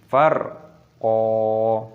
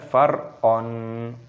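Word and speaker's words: فَرْقًا: Farqo, qafnya berharokat fathah tanwin, ada tanda alifnya mad tabi'i, maka ketika berhenti dibaca mad iwad. Cara membacanya yaitu farqo, bukan farqon.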